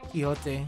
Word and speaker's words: Quixote: Quixote is pronounced like Quiche and the old Coyote, yeah. Quixote, yeah.